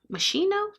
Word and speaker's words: Moschino: Moschino?